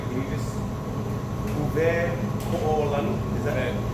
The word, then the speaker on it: Uwekoolani: Uwekoolani? Is that it? Uwekoolani.